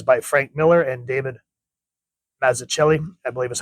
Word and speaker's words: Mazzucchelli: This is by Frank Miller and David Mazzucchelli, I believe is how you pronounce it.